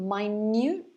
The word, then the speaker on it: minute: akin as well um do any of you know my newt it's a similar word to small very good deadly light yeah it actually means extremely small extremes like tiny if you know the word tiny we can also say minute tiny or it could